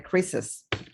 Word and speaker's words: Chris's: El apóstrofe es gráfico, no tiene ningún sonido. Sin embargo, en el que sí tenemos la S al final, apóstrofe S, sería Chris's, o James's, Jess's, Jonas, Joneses.